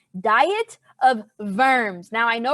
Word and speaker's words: Worms: funny name diet of verms now i know right here it says worms but in german these w's are kind of pronounced like v's so diet of verms diet also back then